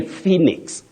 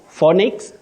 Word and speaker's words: Phoenix: should also remember that you say Phoenix Phoenix not phix not phix great Willis I like